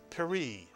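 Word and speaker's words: פְּרִי: It begins with a pronounced shva, and then the resh has a hirik. It is a 1 vowel and therefore a 1 syllable word. It is pronounced peri, Mitsuyan.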